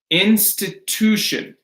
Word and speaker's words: institution: Institution. That ooh is stressed.